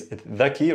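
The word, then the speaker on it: ذكي: Zaki, oh, shab zaki. Or zakiye. Okay? Essentially, it's dhaki originally. But again, dialect could be zaki.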